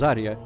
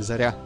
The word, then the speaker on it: Zarya: And everyone pronounces it wrong because everyone says Zarya when it's supposed to be Zarya. The second syllable is the... and I forget Udarenia again, but you know the... Stress? Maybe, yeah. Basically the second syllable is the one you want to say louder or whatever.